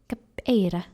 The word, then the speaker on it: capeira: And this one is pronounced kap. No, not like that. Capeira. Yes, capeira. Yes, perfect. Yes, you have to do a bit the R.